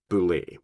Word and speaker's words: Beholder: give you the Boule the Boule is pronounced Boule that's a basilisk on